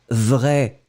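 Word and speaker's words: vraie: Nous ne prononçons pas le E. Et donc, vous obtenez vrai, masculin, vrai avec le E, féminin. D'accord? Dans les deux situations, vous allez prononcer cet adjectif de la même façon.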